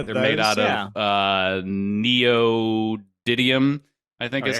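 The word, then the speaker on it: neodymium: rare I know they're made out of uh neodyium I think is how you pronounce it nailed it yeah uh apparently these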